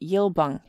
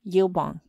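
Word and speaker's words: Yilbang: milbong jummy now this man's native name name was really yil bang pronounced in English yil bong he first put in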